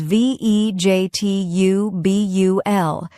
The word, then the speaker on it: vegetable: For example, many learners say vegetable like vegetable, but the correct pronunciation is vegetubul. It's short and soft.